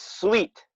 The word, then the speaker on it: suite: E is sweet.